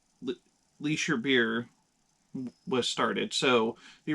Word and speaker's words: Licher: so that's how the leisure beer was started so the original brewery started in 1854 was in the town of lich germany but you put an er at the end and it's leisure so at least that's